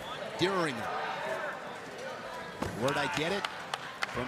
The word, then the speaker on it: Dieringer: Remember a name going back a ways, but Alex Dieringer, everybody called him Derringer. Dieringer.